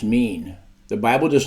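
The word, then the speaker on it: מִין: Hebrew word for kind is o i n pronounced mean the Bible does not mention species it only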